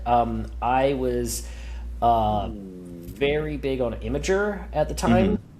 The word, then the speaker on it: Imgur: I was very big on Imager at the time. Please, no one say Imgur to me. That's wrong. It's like mispronouncing data.